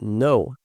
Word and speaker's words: know: Dentro dessa palavra know, você nunca vai pronunciar esse K, tá? A gente pronuncia aqui, ó, know, I know.